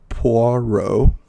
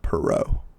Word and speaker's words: Poirot: about okay whatever but so it's poro not pero Po and I will say it if I said it wrong if I said it like perau it's because I'm Texan I'm familiar with the perau name and yeah my apologies